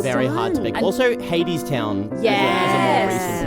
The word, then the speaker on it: Hadestown: even know because it's it's based on like Greek mythology and that's Hades right I would think so and also they say Hades town a lot during the